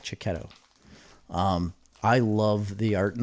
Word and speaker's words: Checchetto: I think it's Cicchetto. It's Checchetto. Cicchetto.